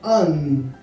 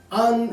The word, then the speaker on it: An: El nombre se pronuncia An. An es el nombre más antiguo conocido con pronunciación de Dios.